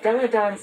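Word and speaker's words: Delle Donne: if you caught that it's pronounced deladon not dela typhon it's three it's literally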